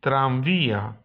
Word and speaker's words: tranvía: Natomiast w słowie tramwaj zmienia się na M od mamy. Un tranvía.